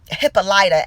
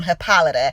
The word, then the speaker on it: Hippolyta: You think back to even things like Hippolyta, as her name is pronounced in the show, and how it really comes from Hippolyta.